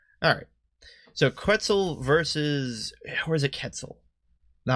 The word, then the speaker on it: Quetzal: while since I've seen the quetzel I see I believe that's how you pronounce that it's not quetzals quitzel right well at any